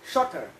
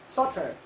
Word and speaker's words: shorter: Nhưng mà trong tiếng Anh không có chữ tờ, nó tức là shorter, shorter, shorter. Thậm chí người Mỹ người ta đọc là đọc gần, người Mỹ thậm chí người ta đọc gần bỏ chữ tờ đi, shorter.